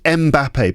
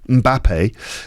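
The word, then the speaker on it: Mbappé: Now, everyone says Mbappe, but I think his name is actually pronounced Mbappe.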